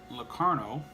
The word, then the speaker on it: Locarno: Sternbach and interesting piece of trivia cadet Nick Locarno that's how you say his name he was